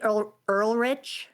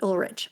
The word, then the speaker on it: Ulrich: But Skeet Ulrich, I think is how you say Skeet it.